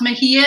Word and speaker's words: Mejia: And it's pronounced Mejia, and everybody messes it up, so don't ever feel bad.